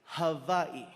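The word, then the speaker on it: Hawaiʻi: First things first, the proper pronunciation is havi.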